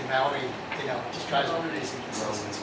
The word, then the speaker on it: Maui: the time as DJs not Maui it's Maui Maui yeah yeah yeah that's